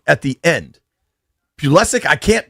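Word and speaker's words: Pulisic: But they they put in Pulysic at the end. Pullesic. I can't pronounce this dude's name. Want to get it right. Pulysic.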